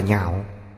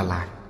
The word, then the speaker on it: nhạo: Chữ này đọc là nhạo, chứ không đọc là lạc.